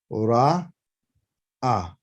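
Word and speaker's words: ראה: That's a resh, which is an R in English. This is an aleph. Name of the letter is an aleph. Okay. Right. Which is silent. Doesn't make any sound. And then you have the hey, which is behold, to look. Okay. So ra, ah. That's how you say to see.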